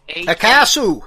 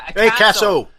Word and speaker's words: AKASO: I'm going to spell it. AKASO. That's Akasu. Yeah, Akasu. That's what I'm calling it.